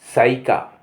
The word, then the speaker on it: psyche: PSYCHE साइका, साइका। यहाँ P silent है।